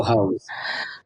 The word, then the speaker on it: Heaux: Ho, ho, hoes. And that's Heaux, every one of them. But you can pronounce it ho or hose.